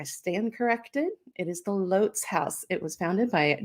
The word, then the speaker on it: Lotz: you probably like me have mispronounced the name of this place for oh say 20 years just like i have um l-o-t-z it's lots it has been lots to me forever um but i have